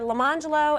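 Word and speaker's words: Lemonjello: Their names were Leangelo and Orangelo.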